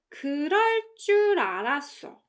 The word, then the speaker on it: 그럴 줄 알았어: And in the case of the second one, it's pronounced 그럴 줄 알았어. 그럴 줄 알았어. With the emphasis on 그럴 줄. 그럴 줄 알았어. And as you can hear, the 알았어 part suddenly weakens, right?